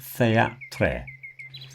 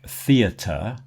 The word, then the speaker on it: theater: It's not thea-tre. The RE is pronounced the same as the ER. So, words like theater, center, liter, when you